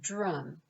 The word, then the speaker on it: DRUUMM: them is d-r-u-u-m-m and we pronounce it drum that stands for diverse